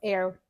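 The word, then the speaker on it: Aire: that name as oh it's air air Webster just kidding it's not I don't like that but it's spelled a a i r e yeah I don't I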